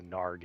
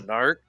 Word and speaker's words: Narg: No, but everybody needs a narg in their life. A narc? Narg, you didn't pronounce it correctly.